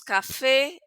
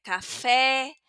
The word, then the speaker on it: café: Decimos café, es café. Acuérdense de la primera clase, abrimos la boca porque aquí la tilde aguda nos obliga a esto, a pronunciar la palabra de una manera abierta, la vocal de una manera abierta.